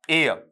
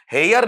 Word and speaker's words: heir: और इसका उच्चारण जब अपन लेंगे बेटा, तो ये क्या बनेगा, एयर, इस तरीके से, और इस तरीके से आपका वहां पर लिखा जाएगा। तो हेयर नहीं होगा, बल्कि क्या बनेगा आपका